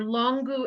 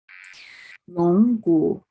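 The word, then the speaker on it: 龙骨: They're longu and muli, and we almost always use them together in formulas.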